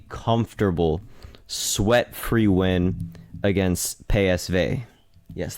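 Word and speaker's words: PSV: sweat free win against pay SV yes that's how you pronounce it in Dutch so very comfortable win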